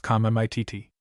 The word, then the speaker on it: committee: Used in this sense, the word is pronounced commit.